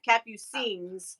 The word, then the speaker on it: Capucines: an s yeah and she says to always say it plural so yeah yes on the end yeah so we do do that cappu scenes okay okay but anyway